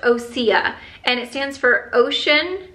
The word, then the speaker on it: Osea: didn't actually know this I had to look it up because I didn't know how to pronounce the name so this is what the actual brand name looks like so I was like is it OSHA is it osea it's pronounced osia and it stands for